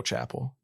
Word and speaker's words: Chappelle: got his name wrong his name is not dave chapple it's joe chapel the director chapel or chappelle uh he goes on